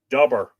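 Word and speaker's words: Dobhar: another pronunciation guide here d-o-b-h-a or which is pronounced dubber that's making sure that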